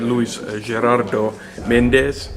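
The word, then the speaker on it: Luis Gerardo Méndez: So this is Jouni from Finnish Amusa interviewing the Mexican actor and producer Luis Gerardo Mendéz. Is that a good pronunciation?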